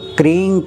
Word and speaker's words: क्रीं: काली के सामने ओम क्रीं क्रीं शत्रु नाशनी क्रीं क्रीं फट। ओम क्रीं, क्रीं मतलब KRING, जी साइलेंट होता है, ग कहना नहीं है, क्रीं कहना है।